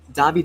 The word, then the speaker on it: Davide: Davide is 3 syllables. The accent, the hardest accent, is on the first syllable. Da. So you want to throw your hands, throw the pizza on the Davide.